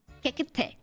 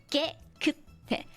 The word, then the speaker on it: 깨끗해: 깨끗해. 깨끗해. Right? That ge is like a double G. Or, I know it sounds like a K, but it's not actually a K. There's a different letter for K.